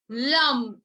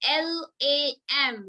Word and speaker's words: Lam: root chakra and the first etheric layer is Lam. So let us start chanting. Just keep your mics mute and close your eyes. Feel you are chanting Lam, L-A-M, Lam, Bija mantra to heal first layer of